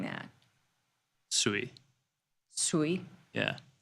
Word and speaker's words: Sui: Sui. Ooh. We need to agree on how we're saying that. Sui. Sui. Yeah. Like chop suey.